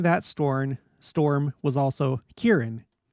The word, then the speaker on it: Kearon: name in my life I thought it was sarin you know I thought it was like maybe